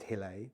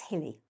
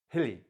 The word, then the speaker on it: Hille: know your family founded Hil which sorry it's hilly hilly okay God I've been pronouncing it wrong for 25 years right you didn't ask